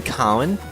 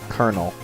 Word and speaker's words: colonel: you what's his name colonel colonel colonel it's not pronounced the way it looks at all curse you English you